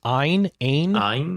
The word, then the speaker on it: AYN: How do you pronounce this? Ein, yeah. Odin 3.